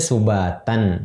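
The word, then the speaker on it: سُبَاتًا: Wa ja'alna naumakum subata. Nah, itu seperti itu. Ayat berikutnya misalnya sama, yang tadi aslinya subatan jadi subata.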